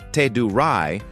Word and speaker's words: Teduray: The Ted, pronounced Tedurai, are one of the most fascinating indigenous groups in the Philippines.